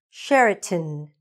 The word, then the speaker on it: Sheraton: Sheraton, tin, not ton, tin.